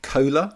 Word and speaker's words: KOHLA: are you pronouncing that are you pronouncing that like Cola Cola yeah yeah fizzy